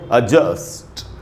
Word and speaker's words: adjust: उसके बाद ये जो जी है ये साइलेंट होगा और इसको हम पढ़ेंगे एडजस्ट एडजस्ट।